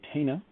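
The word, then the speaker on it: Tena: for dropping by jose tina i call him tina because there's no little squiggly over the inn all right let's see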